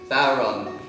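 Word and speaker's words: bodhrán: So he had the back of his Volvo just full of newly made Bodhran, however you say it. An Irishman will tell you said it wrong. Bowron.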